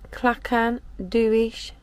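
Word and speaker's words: Clachan Duich: is at the bedroom window we are at clackan dewish burial ground that's how you pronounce it i'll put the spelling up at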